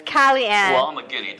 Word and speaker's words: Kali Ann: It's Kellyanne.